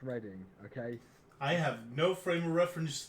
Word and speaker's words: Reading: in which British City no no it's really based in reading I know I know he's still on we can't be angry but it is pronounced reading okay I have no